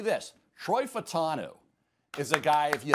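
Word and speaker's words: Fautanu: By the way, we have the official pronunciation guide that is rolling through now. I saw did a good job. Yep, Troy Fatanu.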